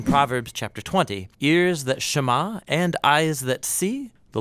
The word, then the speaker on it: שמע: is hear or listen which in Hebrew is pronounced Shama that's where the prayer gets its name now